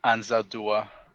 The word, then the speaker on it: Anzaldúa: You pronounce the last name for me. Leraldo Anzaldúa.